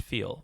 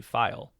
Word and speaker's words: phial: I was pronouncing it as feel, right? Like the word Feel, right? Mm-hmm. But the actual correct pronunciation, and I verified this, is actually file, right? Like File.